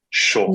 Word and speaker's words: yo: In Argentina, it's not yo, it's sho.